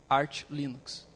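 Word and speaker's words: Arch Linux: do do Arte e ele fala arte ar Linux então se ele chama assim eu imagino que seja a pronúncia correta Ah tu pode disponibilizar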